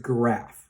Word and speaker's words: Graff: and they call you mrs. giraffe is that true yes quite true quite annoying Oh understandable so it's mrs. Graff is that correct yes that is correct okay great I'll do